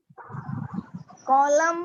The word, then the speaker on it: column: yes ma'am, हाँ, सो L silent हो गया, अब एन साइलेंट। एन वाले वर्ड बताइए कौन कौन से हैं? ma'am column, कॉलम, हाँ, कॉलम, autumn, कॉलम में तो हमें